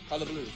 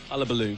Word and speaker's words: Hullabaloo: So what's the right pronunciation? Hullabaloo. Hullabaloo.